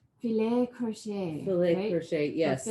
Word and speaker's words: filet: I think the Frenchy pronunciation, which is the fancy one, is filet. There's a T at the end.